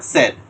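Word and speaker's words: said: তাহলে এটা সেইড হয় না। এটা সেড। খুবই অদ্ভুত কারণে আমরা এটাকে সেইড বলি।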